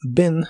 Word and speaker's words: been: el significado estado y Ben lo usas para todas las personas en cuanto a su pronunciación se pronuncia con una I corta que suena ligeramente como e Ben Ben como dijimos